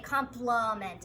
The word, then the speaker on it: complement: schwa sound complement right we don't say compliments or compliment we say complement it's a schwa sound so